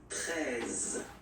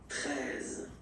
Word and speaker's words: treize: Then now if you combine this E and E, you get the sound E, really open. Treize. Final E, as usual, not pronounced. Treize. Okay?